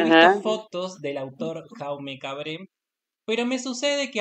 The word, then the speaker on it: Jaume: una cosa, perdón, ¿cómo se pronuncia su nombre en catalán, Jaume o No, Jaume? no sé si es Jaume o Jaumé, porque creo que hay como un acentito raro en el catalán.